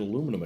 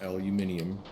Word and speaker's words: aluminum: I'm struggling to get aluminum again, which by the way, that is how it's pronounced. Is not pronounced aluminium. Some of you guys are in countries where you pronounce it wrong.